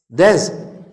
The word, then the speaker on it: does: DOES. Bacanya das. Harusnya does.